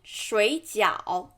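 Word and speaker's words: 水饺: And then dumpling, 水饺 And this is third tone again. To third tone, you should pronounce the first one into second tone.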